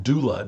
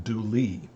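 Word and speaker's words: Dula: in western north carolina people often pronounce the a sound as e and so tom doula became tom dooley dooley was from a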